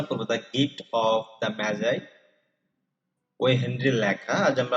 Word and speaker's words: Magi: ওই হেনরি রচিত the gift of ম্যাজাই, নট ম্যাগি আর ম্যাগাই, উচ্চারণ হবে ম্যাজাই, গল্পটি তরুণ দম্পতির একে অপরের প্রতি ভালোবাসার চূড়ান্ত দিক নিয়ে আবর্তিত।